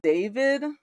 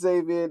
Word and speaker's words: D4VD: His name is, I think it's pronounced David. Zaby.